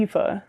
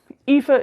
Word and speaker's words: Aoife: But if you have an appreciation for Irish folklore, and Aoife is essentially the Irish pronunciation. When an A and an O sit next to each other like that, they make like an E sound, which could have just